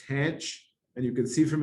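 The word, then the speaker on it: tanh: So the hyperbolic tangent is pronounced tanch, and you can see from its graph, it's bounded between -1 and 1.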